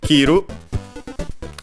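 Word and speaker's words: 切る: This one is kiru accented and more importantly it's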